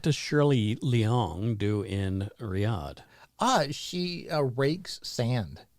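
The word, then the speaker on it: Riyadh: Arabia oh Riyad it's what I said it's Riad yeah exactly that's the capital well but that's that might be how you pronounce it Carol lived in daharan did she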